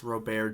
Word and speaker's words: Robert: but yeah I'll talk about lob uh Luis Rober Jr um although I will always say Luis Robert normally but I'd say Rober just so it's